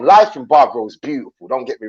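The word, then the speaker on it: Bávaro: You see, my lady lives in Bavario, so obviously I split my time between Bavario and Bavaro. See, there I go with the American pronunciations again. There you go. See, I split my time between Bavaro and Puerto Plata.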